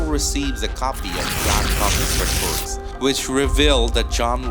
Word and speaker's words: Coffey: The convict confirms that he is John Coffey. Like to drink, only not spelled the same.